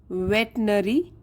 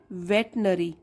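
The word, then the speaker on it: veterinary: है जानवरों के डॉक्टर स्पेलिंग में गड़बड़ होती है इसमें हमेशा देखिए आर आई है लेकिन बोलते कैसे हैं वेटनरी तो यह आप ध्यान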